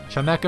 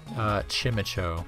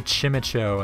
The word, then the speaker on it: Chimecho: A lot of people I've heard say Chimecho, which just baffles me, because like, it's a chime. It's clearly like a wind chime, right? And like echo is a quality of sound, so like, it would